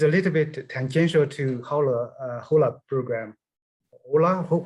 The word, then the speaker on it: HOLA: It's a little bit tangential to HOLA program.